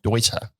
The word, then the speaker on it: Deuter: If you pronounce it the English way, you're spot on. Okay. All right. So you work for TMO Sports, and as I mentioned, so TMO is the distributor of Deuter here in Australia, but